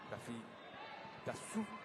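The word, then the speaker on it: Tafitasoa: Tafitasou. Ici à Madagascar, on ne prononce pas le A qui arrive à la fin d'un nom.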